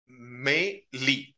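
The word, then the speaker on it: mêlée: vishas guided the horse his horse to the m Lee that's how it is pronounced okay I wanted to make a note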